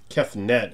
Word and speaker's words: Kefnet: Kefnet, I guess it's not Kefnut.